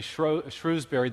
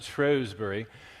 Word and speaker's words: Shrewsbury: A year ago, I had the opportunity to go back to England and to lecture in what we Americans would say Shrewsbury. The British pronounce it Shrewsbury.